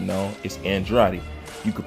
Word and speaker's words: Andrade: I said, no, it's Andrade. You could pronounce it several ways, but this is the correct way to say it.